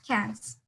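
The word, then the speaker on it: quinze: so how do you pronounce it? Is it quince or quince? No, it's cans. It's like Oh, cans.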